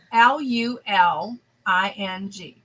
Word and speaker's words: Luling: is that where the sandpit was no line l u l i n g Ling L it sounds sounds Asian Luling and